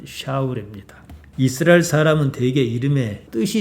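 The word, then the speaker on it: שָׁאוּל: 히브리 말 그대로 발음하면 샤울입니다.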